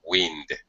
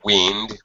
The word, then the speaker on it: wind: Wind when it's Yeah. When it's a noun, it's wind. When it's a verb, it's wind.